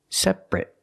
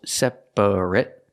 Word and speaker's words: separate: we pronounce it differently we pronounce it separate so it's not three syllables separate it's two syllables separate and the last vowel is short it it it not separate but separate